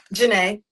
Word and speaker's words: Janae: How do I pronounce your name? Janae. I said it right.